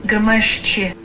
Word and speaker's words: Gremyashchy: what Bing Translator tells me the name is pronounced as. Gremyashchy. The Russian translation to English, Gremyashchy, means reverberating.